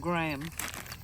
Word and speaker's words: Graham: Grand CRA graham crackers it's spelled Graham but graham crackers which we can't buy